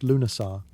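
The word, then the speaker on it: Lughnasadh: Lugnasad, pronounced Lunasar, the Celtic festival honouring Lugh, the god of light, craftsmanship, and war.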